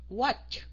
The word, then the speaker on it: watch: watch hiện tại đó thì nó là ch, watch. Nếu mà các anh chị không phát âm được ch á, mình đọc rõ nó